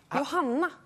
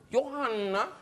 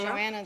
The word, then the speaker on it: Johanna: you say it Johanna no no in Swedish Johanna Johanna yeah say Joanna Joanna I say yeah yeah let's go with